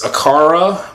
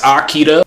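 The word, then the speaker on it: Akira: His favorite uh anime, TV show or movie is Aara, but in a Japanese pronunciation, I think it's Akida.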